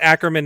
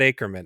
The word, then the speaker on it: Ackerman: right off the bat it is aan it's acman not acran correct yeah I mean gez hard name obviously obviously a very hard name to pronounce there that you could have said aeran I mean too uh